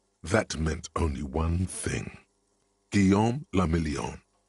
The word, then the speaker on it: Guillaume Lamillion: For Revachol, your city, that meant only one thing: Guillaume Lamillion. If it doesn't rhyme, you're not pronouncing it right.